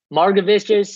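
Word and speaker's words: Margevicius: texas seattle game for the pitchers standpoint um marga vistas is that how you say his name holden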